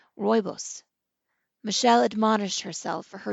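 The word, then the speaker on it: rooibos: Googled it sure enough she was pronouncing it incorrectly it is pronounced Roos Michelle admonished herself for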